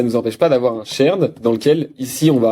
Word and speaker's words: shared: cette architecture avec un dossier shared, prononcé à la française, hein, vous connaissez, et on pourrait imaginer donc ce dossier shared qui est vraiment, par